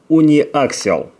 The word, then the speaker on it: униаксиал: Но эта лента с покрытием или материалом униаксиал. Вот так правильно произносится название этого материала или состава, который использовался на этих хромовых Sony, на Sony второго типа.